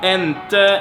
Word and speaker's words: inte: Jag inte becomes jag inte, and inte turns often into ente, and since there is a vowel before this, it kinda gets lost.